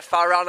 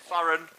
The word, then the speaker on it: Farran: Yeah, Farran are playing. That's spelled F-A-R-R-E-N. Farran.